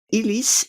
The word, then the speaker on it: Illies: Es de Florian Illies. Se escribe con doble L. El apellido es alemán, pero bueno, lo pronunciaremos así.